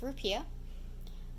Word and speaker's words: rupiah: of us know that the currency is a rupiah and I actually do look up the pronunciation that's how it's spelled but it's pronounced rupiah population is 267 million seven hundred thousand as